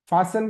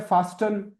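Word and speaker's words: fasten: कुछ लोग लिसन को पढ़ते हैं लिस्टन, फासन को पढ़ते हैं फास्टन, क्योंकि उसमें टी दिख रहा है, टी दिख रहा है तो हमको टी को टव पढ़ते हैं हम लोग।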